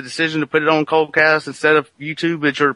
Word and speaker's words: Koldcast: Obviously, you've mentioned that you've put the show on Coldcast instead of like other, like YouTube or something. Were there benefits or kind of things that led to the decision to put it on Coldcast instead of YouTube as your primary hosting site?